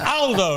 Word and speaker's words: Aldo: he picked me up but it's Aldo not older Aldo's a very British pronunciation in Italian uh good to see